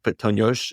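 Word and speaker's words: puttonyos: ponos it looks like ponos is how they say it in magar or Hungarian and basically it was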